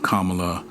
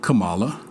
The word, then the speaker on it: Kamala: So let's find out all we can about Kamala Devi, D-E-V-I, Harris. So let's start first things first. She was sworn in and her name was mispronounced. It is not Kamala. It is Kamala.